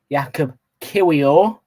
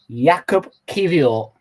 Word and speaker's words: Jakub Kiwior: But the correct way to pronounce it is Jakub Kiwior. So Jakub Kiwior. So Jakub Kiwior. So Kyiv, the city in Ukraine, Jakub Kiwior. Kyiv, or. Say it like that.